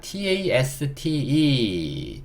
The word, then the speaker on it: taste: E는요, 묵음. 얘도 뒤에 모음이 없어요. 그러니까 스 소리 그냥 내야 되고요. 얘도 뒤에 모음이 없어요. 얘 묵음이니까. 그래서 소리 달아주면 됩니다.